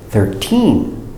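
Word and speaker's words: thirteen: t teen 13 and these stress and accent is on the second syllable 13 13 repeat very good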